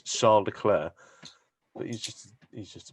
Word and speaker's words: Leclerc: understand that he says he says my name is charles leclerc it's not the way you pronounce it where he's from is charles claire but he's just he's